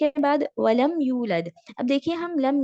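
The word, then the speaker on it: وَلَمْ: पूरे सर्कल करने हैं वलम वलम और लम यहां पर भी मीम साकिन के बाद या है तो इजहार हम क्लियर मीम को प्रोनाउंस करेंगे वलम यू लद अब यू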